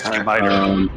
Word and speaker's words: scimitar: Pronounced scimitar.